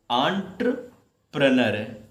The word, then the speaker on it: entrepreneur: ENTREPRENEUR, पढ़ेंगे क्या इसको? आंट्रप्रनर। क्या आंट्र, प्रोनाउंसिएशन देखना बेटा, आंट्रप्रनर। क्या पढ़ोगे इसको? आंट्र, ट्रा लगाओगे इसमें, क्योंकि यहाँ पर RE लगा हुआ है, तो इसको इंटर से तो बोलना ही मत, ध्यान रखिएगा,